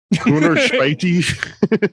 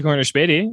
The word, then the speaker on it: Corner Späti: Corner Späti? Yeah, that's actually pretty close. Yeah, Corner Really? Späti. Yeah. Hey. It's your weekly Corner Späti.